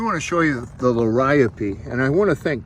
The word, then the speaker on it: Liriope: It's Liriope, not Liriope, although everyone in the South that I've heard says Liriope. Liriope is the correct, and it's coming back.